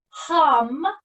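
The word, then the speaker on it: ham: the throat chakra is hum and it spelled H a.m. but pronounced almost more like like when you're humming almost like that hum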